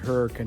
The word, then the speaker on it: Hurricane: is a reason that hurricane is named hurricane and yes that is how you pronounce it that's the way the locals have said it for years I know it's spelled